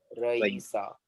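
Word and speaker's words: Raïsa: हाँ, रईसा. अब यहाँ पे करना क्या है मालूम है आप लोग को? तो यहाँ पर you can put there, see, there are two vowels, right? र ई र ई सा या you can.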